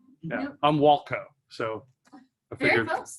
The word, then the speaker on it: Walkow: I'm Walkow.